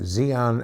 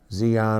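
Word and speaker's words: xenon: there had been uh Zeon X e n o n zon or xon bulbs however you want to pronounce it took the place of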